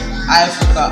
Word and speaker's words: Ifrica: And so therefore you mentioned the fact that my name is Ifrica. Yes, it is Ifrica. Africa spelled with an I.